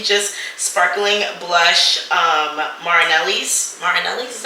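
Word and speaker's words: Martinelli's: this is literally just sparkling blush um marinelli's marinelli's is how you say it um 100 juice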